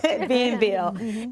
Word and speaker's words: Bienville: He talked about a nursery school he went to on Bienville. Am I pronouncing that right? Yes, Bienville.